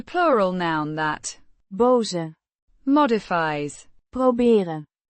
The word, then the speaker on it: proberen: It is the plural noun that boze modifies proberen. means to try or to attempt, pronounced Proh-beh-ren. with emphasis on the first syllable.